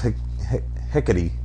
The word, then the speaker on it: Hecate: Well, I mean, it is Greek, so the E at the end is always E, so it's Hecate. Hecate. Okay. It's probably Hecate. Hecate heck. Let's Don't say talk back. let's say Hecate.